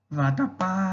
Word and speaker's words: vatapá: Quando eu vou cantar Pará, Pará, Vatapá. Perceba que a sílaba em que mais demoro é o Rá do Pará e o Pá do Vatapá. Significa dizer que são oxítonas.